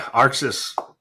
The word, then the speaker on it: Arxis: Arxis.